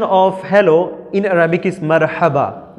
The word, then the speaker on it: مرحبا: The translation of hello in Arabic is marhaba, not marhaba. Marhaba, pronounce with me.